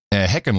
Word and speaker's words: Hickenlooper: Well, it's a Dutch name. Heckenloper. Well, how do you pronounce it? What's the real way to pronounce it then? Well, the way it's spelled is a derivative, but I heard him actually explain it on an interview somewhere. It would be Heckenloper or Heckenspringer even is someone who...